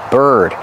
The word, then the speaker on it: bird: it's a bird bath remember the pronunciation Bird use the sound ER like Burger it's closed use your voice er er bird this is a bird